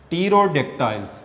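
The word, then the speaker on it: Pterodactyl: टीरोडेक्टाइल्स, P silent होगा इसमें, टीरोडेक्टाइल, ये these are ancient flying mammals.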